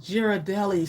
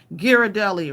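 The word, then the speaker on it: Ghirardelli: G type it in hard G on giradelli giradelli rather giradelli Ali Moore says are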